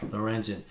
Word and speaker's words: Lorenzen: the same game this guy Michael Lorenzen or Lawrence and I don't know how you say his name I got this right yeah Lorenzen the pitcher for the Phillies no hitter same